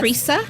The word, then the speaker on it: Tresia: Miss Tresia, yes. How are you, darling? And I love perfect. your name. We know thank you. it's spelled differently. It's Yes. Pronounced differently, Yes. Tresia.